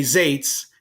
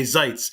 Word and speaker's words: Zaitz: you don't want to uh hate don't say zes and if you want to have a fight or don't want to have a fight make sure that you say Zees because that's how you pronounce his name so